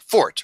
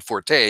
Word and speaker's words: forte: for example you serious you and I both know that the word is pronounced fort or the hard teeth